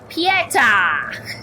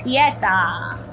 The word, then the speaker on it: Pieta: Pieta over-exaggerates the last syllable of her name, and it's okay. Okay! So, Pieta. Got it, Pieta.